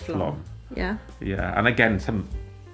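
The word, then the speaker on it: Flåm: Spelled flam. Yeah. Pronounced Flom.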